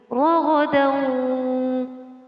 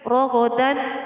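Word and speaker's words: رغدا: Ragadan, ragadan, bukan rogodan wa. Jadi tanwinnya didengungkan, memasukkan suara nun mati atau tanwin dengan berdengung.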